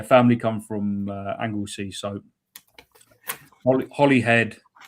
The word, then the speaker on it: Holyhead: It's come from Claire Hughes, and she asked, why is Holyhead and Holywell pronounced as Holly, if you don't mind me asking?